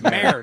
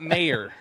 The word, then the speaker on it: mayor: Um, do you pronounce your job title as if it rhymes with hair or rhymes with payer? I would say hair. Yeah, in your face. I told you it's mayor, not mayor.